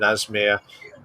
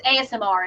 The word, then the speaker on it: ASMR: But now I reckon it wouldn't take long for them to do an Asmir, if that's how you pronounce it. I call it Asmir. It's ASMR. It's just the letters.